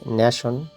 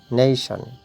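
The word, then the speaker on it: nation: নিশ্চয়ই ন্যাশন, ন্যাশন, কিন্তু সঠিক উচ্চারণ হচ্ছে নেশন, নেশন, নেশন।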